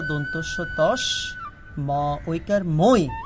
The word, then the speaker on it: তস্মৈ: আচ্ছা, এখানে উচ্চারণের সময় দেখতে হবে, যেহেতু এটা ঐকার, তখন এটা হবে ত দন্তস্য তস, ম ঐকার মই, তস্মৈ।